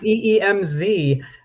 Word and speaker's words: Wemyss: yeah I've got my my um IC pronunciation as my maiden name we MZ uh you know that's one way around a Scottish name like mine it's good it's good